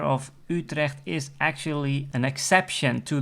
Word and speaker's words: Utrecht: we have Den hak also a major city Utrecht so that you the first letter of Utrecht is actually an exception to the rule because